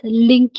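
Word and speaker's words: LINQ: for language integrated query कई लोग इसको लिंक भी प्रोनाउंस करते हैं लिंक क भी प्रोनाउंस करते हैं आपकी मर्जी कैसे कर द फुल फॉर्म लैंग्वेज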